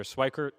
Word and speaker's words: Schweikert: the chair recognizes the gentleman from arizona mr schweikert for 30 minutes thank you speaker pro tem um and you pronounced it correct and i have one of